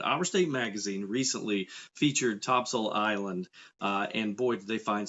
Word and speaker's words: Topsail: well in Topsail and if you're not from here yes we do pronounce it Topsail everything from the beach